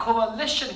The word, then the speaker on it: coalition: 자, coalition. 중간에 A가 있으니까 발음이 조금 달라요. 얘는 뭐냐면 coalition, 그래서 연합체야.